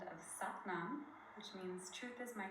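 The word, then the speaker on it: Sat Nam: But we're going to inhale to the sound of Satnam, which means truth is my name or truth is my essence. But we're going to break it into its foundational syllables. Sa, ta, na, ma.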